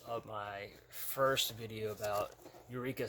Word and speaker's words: Eureka: And then I remember somebody talking in the comments of my first video about Eureka 7, or they pronounce it in the anime. They pronounce it Elreka, which is weird.